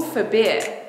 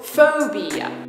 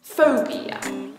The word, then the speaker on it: phobia: and how about school forbid sounds great but I think you probably want to say school phobia that's a three syllable word with the stress on the first syllable phobia not severe so how